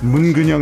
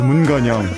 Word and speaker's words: 문근영: You pronounce 문근영 as 문건영, our Arirang.